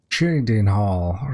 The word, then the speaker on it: Cheydinhal: Cheydinhal. Right, I was pronouncing it wrong before.